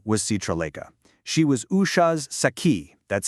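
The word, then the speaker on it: sakhi: She was Usha's saki. That's spelled s a k hi, which is a Sanskrit word for a really, really close girlfriend.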